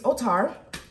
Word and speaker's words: Outar: So first things first, my name is Otar. Otar is spelled O-U-T-A-R.